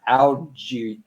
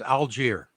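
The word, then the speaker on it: Allgeier: me on this one uh algae algae or a-l-l-g-e no it's just it's actually make it easy it's it's algier Alger okay he has 900 running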